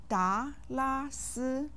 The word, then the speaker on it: 达拉斯: Each syllable of da, la, si has a simple final.